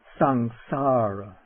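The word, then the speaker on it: saṃsāra: This is pronounced something like the ng in sing. Un. So take the word for the round of birth and death. Ssara ssara.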